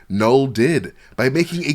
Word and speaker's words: Knull: out the nine but pull out the nine with the silent k nll did but by making